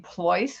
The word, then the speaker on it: Pleuss: 1n my last name ploys which rhymes with choice voice or rolls-royce is spelled p.s and